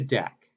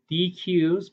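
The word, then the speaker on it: deque: on to Dex so now we move to deck and I've heard it called dqs before but DEC is the crop proper pronunciation and the reason is is because the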